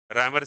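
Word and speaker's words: Réaumur: रैमर scale बोलते हैं, REAUME spelling होता है।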